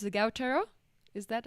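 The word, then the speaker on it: Guácharo: Gautaro? Is that how you pronounce it? Guacharo.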